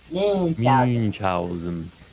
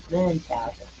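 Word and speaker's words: Münchausen: it's pronounced oo. Mm. So you shape your lips to say ooh, but then with the back of your mouth you say e. It comes out ooh. Munchausen.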